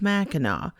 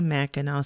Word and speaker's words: Mackinac: fort in current day mackinac city spelling the local word for the area meaning place of the great turtle with the silent c that is spelled m-a-c-k-i-n-a-c i took some